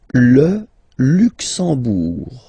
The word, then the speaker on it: Le Luxembourg: Le Luxembourg, okay, final G not pronounced, and then when you combine this E-M here, you get the sound en. You don't pronounce the M at all, it's this nasal en, okay?